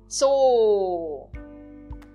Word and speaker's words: Zoo: O Z, em contrapartida, tem o som de TS. Então eu falo zoo.